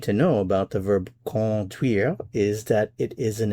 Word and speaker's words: conduire: There is no n sound. It's con. This is a nasal vowel.